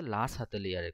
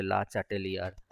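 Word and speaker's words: Le Chatelier: ওটা বললাম যে লা সাতেলিয়ারের কনসেপ্ট। লা সাতেলিয়ার, কেউ কেউ প্রোনাউন্স করে লা চাটেলিয়ার, যে যা প্রোনাউন্সিয়েশন করে।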